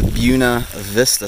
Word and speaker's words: Buena Vista: anyway to the priests this is the buena vista stop that's how the locals say it at least and we are